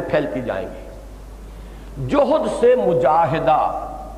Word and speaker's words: مجاہدہ: جہد سے مجاہدہ، اصل میں ہم مجاہدہ کہہ دیتے ہیں، عربی میں اس کا تلفظ مجاہدہ ہوگا، اس لیے کہ یہ باب ہے مفاعلہ.